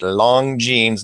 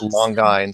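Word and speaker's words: Longines: uh the long jeans I have to pronounce it right long jeans not long longin yeah long yeah long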